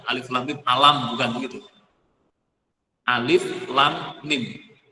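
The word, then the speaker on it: الم: Tadi dibaca alif lam mim. Ini bacanya begitu, Bu, Bapak-bapak, Ibu-ibu. Jadi bukan alam, bukan gitu. Alif lam mim alam bukan begitu?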